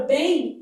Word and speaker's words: bem: Na palavra bem há um dígrafo aqui, na verdade há um ditongo fonético, ó. Bem. Então esse M tem som de I.